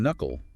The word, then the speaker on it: knuckle: The K in knuckle is silent.